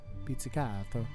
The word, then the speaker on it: pizzicato: Pizzicato. Notice the Italian pronunciation as I was abroad just recently.